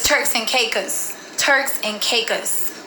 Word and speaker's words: Caicos: and Caicos Turks and Caicos like a a cause when we was there the locals pronounced it like Turks and Caicos Turks and cakes yeah cause when we're